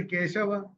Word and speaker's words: किं: ज्यायसि चेत कर्मणस्ते मता बुद्धिर्जनार्दन तत् किं कर्मणि घोरे माम नियोजयसि केशव। अब देखिए, क के ऊपर जो अनुस्वार है उसके बाद का अक्षर क्या है? क। तो वो अनुस्वार का उच्चारण क्या होगा? अंग।